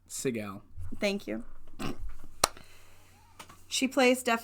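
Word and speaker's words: Siegel: kate how do you say her last name sigel thank you she plays deaf and mute in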